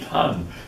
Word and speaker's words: Han: it was replaced by the han dynasty actually pronounced han and the uh the han dynasty immediately adopted